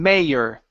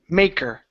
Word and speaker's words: maker: all uhuh maker so you're skipping over the k sound you're saying Mayer okay it's makeer maker maker uhhuh it didn't